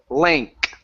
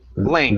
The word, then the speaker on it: length: Okay, the ENG is actually pronounced like an A N K. Okay, so the ENG is pronounced a N k like so. Right. So we say length. Length.